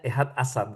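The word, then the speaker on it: אחד עשר: Bacanya ehad asar bukan eser ya.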